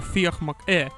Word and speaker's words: Fiach MacHugh: Let us explore the meaning behind the lyrics of the marching song of Fiach MacHugh, or Fiach MacHugh if you prefer the Irish pronunciation, by Cruachan.